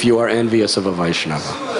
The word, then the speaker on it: Vaishnava: are envious of a Vaishnav say it say it loud the a at the beginning should be I'm hearing surah so please emphasize the first syllable according to sri my